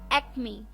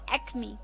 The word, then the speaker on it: acme: तो चलिए द 13th word for the evening is एक्मी। जी हाँ दोस्तों, एक्मी, ACME, एक्मी, ACME, एक्मी।